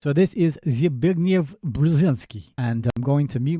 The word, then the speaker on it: Zbigniew Brzezinski: little audios here to you of how you pronounce this correctly. Zbigniew Brzezinski. Sorry if that was a bit loud. Zbigniew Brzezinski.